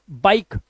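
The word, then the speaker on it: bike: हमारा कह रहा है जब किसी वर्ड के लास्ट में ई आए तो ई का उच्चारण नहीं करते अभी बताया था हर एक वर्ड के लास्ट में ई आया हुआ है उसे साइलेंट रखना है किसे साइलेंट रखना है हमें ई को तो इसे हम पढ़ेंगे लाइक लाइफ शेयर शेरे नहीं मिके नहीं पढ़ना है माइक इ भूल जाओ बाइक बिके मत कर देना बिके फटे फटे नहीं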